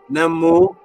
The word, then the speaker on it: Nommo: The answer is, when you hear the word Nommo, Nommo, it's pronounced different ways. Nommo, NEMU, NOMMO. It's pronounced different ways because in the ancient languages, certain of those vowel sounds are not specific.